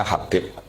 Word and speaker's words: Habib: Itu di harakatnya kitab itu ada yang nulis khubab. Tapi yang benar Oh, nggih. Yang benar itu bacanya Habib.